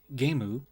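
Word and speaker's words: ゲーム: or damn kuso and the japanese pronunciation of game gemu put them together you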